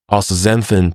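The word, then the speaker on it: Astaxanthin: Ooanthin, pronounced as th z a n thin, is extraordinary for one simple reason.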